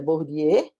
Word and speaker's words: Bourdieu: Ela traz a ideia, duas ideias, ela traz aqui a ideia de, acho que a pronúncia é Bourdieu, vocês podem comprovar, e ela ainda traz também a ideia de Karl Marx, que é a questão da coisificação.